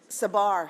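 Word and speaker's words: Tsabar: Last but not least, uh we will have Gur Tasbar Sabar. Sabar is a silent T and uh who um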